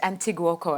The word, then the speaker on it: Andoni Goikoetxea: Andoni Goikoetxea, am I saying it correctly?